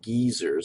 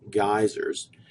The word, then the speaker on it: geysers: That's not geysers. I know what you're thinking. You're thinking of some old geyser, but no, geysers.